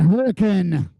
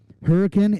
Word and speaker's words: Hurricane: Peak Sophie Bush and Sophie Draper Adeline lowson hurricane for those of you that are listening at home might be from out of state hurricane is the proper pronunciation I actually asked someone